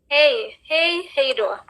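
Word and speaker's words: Hej då: Hey då. Okay, so hey is hi, and hey do is bye.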